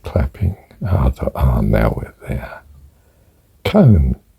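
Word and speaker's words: koan: and so i s sort out the pronunciation con I thought that doesn't sound very I thought it'd be a bit more sophisticated than that con con con right okay right so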